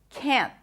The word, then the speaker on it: can't: in English please please please just pop the T at the can't. A lot of native speakers pronounce it like that with a pop t.